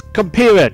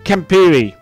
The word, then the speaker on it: Kampira: It's Kampira, not Kampiri.